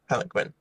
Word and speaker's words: palanquin: Palanquin.